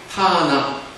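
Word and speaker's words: תנ״ך: 그러냐면 타나 이렇게 부릅니다 토라의 티트 비의 n 나 그다음 투비의 K 커 타나 이렇게 발음한다 말이죠 그래서 타나 그러 아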